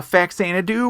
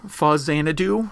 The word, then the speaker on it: Faxanadu: so my game was uh faxanadu or fuzz xanadu however you want to pronounce it i'm going to stay with fax antido because that's how how i've always pronounced it and uh it's often compared to zelda 2.